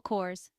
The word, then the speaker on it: Kors: emphasis on Hill Michael Kors Mel Kors the Michael is straightforward and Kors rhymes with doors ver w ver Wang